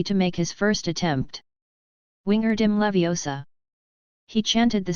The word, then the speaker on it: Wingardium Leviosa: The correct pronunciation is Wingardium Leviosa, the sound of J should be long and clear, and the wand in his hand should be waved.